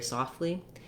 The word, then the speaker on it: softly: he speaks very softly you can get away with just leaving that tea out all together native speakers do it it's part of making the word fluent and easy to pronounce going right from the f to the l once you can say